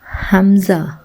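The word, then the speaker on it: همزة: தா லா ஐன் ரைன் பா காப் காப் லாம் மீம் நூன் வாவ் ஹா லாம் ஹம்ஸா யா இந்த ஹம்ஸாவை ஆ அப்படி சொல்லணும் ஆ யா நான் ஒவ்வொரு எழுத்தா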